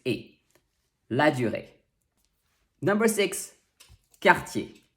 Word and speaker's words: Cartier: a lagiore number six cartier two r's but very different sounds when the word ends with er it makes the sound a that is often found